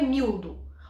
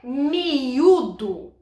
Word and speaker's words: miúdo: Mas a gente sabe que o termo, na verdade, não é miúdo. O termo é miúdo.